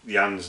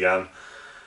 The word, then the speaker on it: Jan: i can probably pronouncing jan's name wrong i think i pronounced it jan so apologies for that it's clearly yan and secondly what i